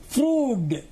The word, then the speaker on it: Froude: The correct pronunciation is Froude.